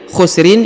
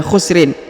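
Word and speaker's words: خُسْر: Inal jadi tanwi ya khusrin ini tidak dibaca khusrin tapi dibaca khusr ya disukunkan huruf ujungnya dengan membaca tipis ya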